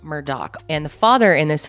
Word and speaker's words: Murdaugh: So the Murdaugh family, their name looks like Murdaugh. It's pronounced Murdaugh.